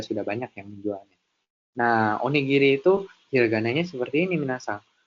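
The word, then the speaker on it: おにぎり: Nah, onigiri itu hiragananya seperti ini minasang. O, ni, ini ada huruf ki yang diberikan ten sehingga dibacanya gi, dan ya ini ada huruf ri. Jadi dibaca onigiri, onigiri.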